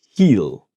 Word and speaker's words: he'll: And the will will make a contraction to heal. So the tongue here is touching. Uhhuh. But not the teeth.